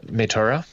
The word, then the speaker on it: Moytura: I Moytura.